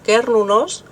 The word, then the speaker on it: Cernunnos: Una de ellas es que la palabra Cernunnos, que probablemente en esa época se pronunciase como Quernunnos, podía proceder o bien